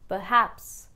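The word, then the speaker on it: perhaps: The meaning of this word is probably and the trick of this word is that in this you put the letter R on silent mode, now this word will be pronounced as Peh-haps This word I really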